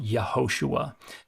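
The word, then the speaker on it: יהושע: a Y uh but Joshua wasn't pronounced Joshua anciently it was pronounced yahoshua and it is a variant version of the name underlying Jesus they're not the same name yhoshua has an additional he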